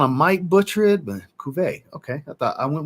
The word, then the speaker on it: Cuvée: Cuvée is pronounced Cuvée.